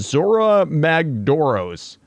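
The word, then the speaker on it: Zorah Magdaros: It is pretty fitting, and apparently this is a name of an elder dragon from Monster Hunter, and I believe it's pronounced Zora Magdoros.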